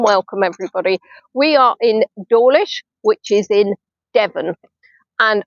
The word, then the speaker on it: Dawlish: I came to Dawlish because Dawlish is easily pronounced as Dawlish, and I live in Maidstone, but I call it Maidstone.